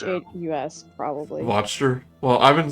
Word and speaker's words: Wachter: and Inc comes Nikolai Watcher a watcher he recognized him from the bar VOR if it's if it's supposed to be mock German or German sounding it would be pronounced more closer to V why didn't you tell